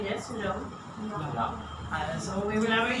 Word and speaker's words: Ja: Ja.